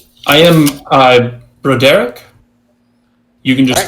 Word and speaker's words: Broderick: Is it No, it's Matthew Broderick's brain? No, he is pronounced Broderick. Because that's so much better. It was just a different version of Bo Derek.